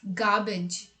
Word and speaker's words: garbage: But actually it's not garbage, it's garbage. There's no R sound in it. R is silent in this word.